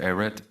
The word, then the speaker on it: Ehret: here NBA student um Mr eret did I pronounce it correctly you got it right yeah uh yes sir